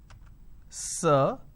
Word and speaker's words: sir: Now, this particular word is pronounced as sir, Now this is a vowel sound. You will understand what a vowel sound is very soon. It's sir, or r, sir. This is how we are supposed to pronounce.